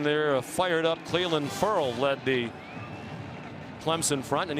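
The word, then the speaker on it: Ferrell: A fired up Cleveland Furl led the Clemson front and he did tell us earlier in the year it's pronounced furl furl like referral.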